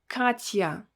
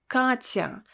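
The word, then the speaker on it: Катя: the name katya katya you will not say katya no you will say katya because we will need to pronounce a sound ah with a softened consonant and a word association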